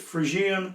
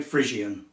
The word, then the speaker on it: Phrygian: Some people pronounce it Phrygian, some people say Phrygian. Doesn't much matter.